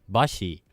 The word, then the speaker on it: Basi: But this track is featuring Japanese MC, big Japanese MC, Bashi, which is spelled Basi, and who's a really prominent figure in the Japanese hip hop community.